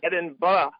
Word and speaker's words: Edinburgh: secret, but because you need to do some pronunciation, training on YouTube for like Edinburgh. You have to say Edinburgh. Edinburgh.